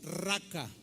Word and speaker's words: raca: origen en el arameo es una palabra que se escribe y se pronuncia igual raca o raca así como suena Pero cuál es la